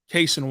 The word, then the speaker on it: Cason: presti was calling him caisson and then on his rookie intro presser Cason said you can you can pronounce it either way but he prefers case and Wallace and then during